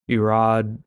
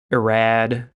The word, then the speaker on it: Irad: and basically that one the RS in Hebrew if you want to sound really auth make a French kind of sound so if you want to pronounce it accurately but just irod would work and if you want to say irad then go ahead he's not alive to